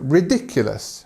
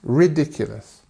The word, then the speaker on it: ridiculous: you say it correctly so ridiculous ridiculous and if you see here we have our famous schwar sound this uhuh so ridiculous okay nice